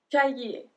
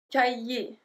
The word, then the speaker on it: cahier: Un cahier. Cahier. So we don't pronounce the H.